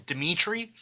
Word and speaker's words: Dimithri: If you want to follow me specifically as an individual, you could follow me on Instagram at This Is Dimitri, and that's DIMITHRI. The H is silent.